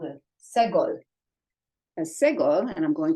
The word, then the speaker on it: segol: And that is what's called a segol. A segol, and I'm going to my lesson booklet here, has 3 dots, and it's pronounced eh, as in red.